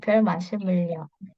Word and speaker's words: 별 말씀을요: Nah, di sini realnya itu tidak naik ke atas. Jadi kita akan bacanya seperti ini. 별 말씀을요. Oh, Ionya terpisah, gitu ya. Jadi ionya terpisah. Nah, kenapa? Karena ini pengecualian.